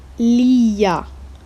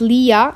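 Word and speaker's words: لي: So for me uh for me is Leah here. Normally it's Leah Leah, but we added the Y here just to make the pronunciation smoother.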